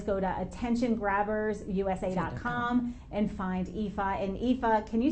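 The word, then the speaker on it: Aoife: want to you're going to want to look IFA up yeah so my name is spelled a-o-i-f-e so uh and then the surname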